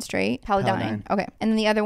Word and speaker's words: Paladin: uh Paladin is that how you say it Paladin straight paladine okay and then the other one is routines